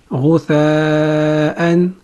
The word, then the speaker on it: غثاءً: The next syllable we have is همزة فتحتين أن. همزة is a light letter and it has فتحتين on top of it. همزة فتحتين أن. همزة فتحتين أن. همزة فتحتين أن. Combining all three syllables, we have غثاءً غثاءً غثاءً.